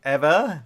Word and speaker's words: Ewa: out in a play called Ewa Beach it ever be just actually spelled AWA so ever right so Hawaii ever okay so yeah we